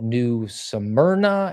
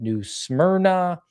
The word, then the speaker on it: New Smyrna: The town is called New Smyrna, and I was pronouncing it New Smyrna, a distinction kind of without a difference.